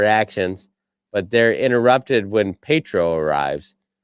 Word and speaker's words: Pietro: Vision confronts Wanda about her actions, but they're interrupted when Pietro arrives. Pietro.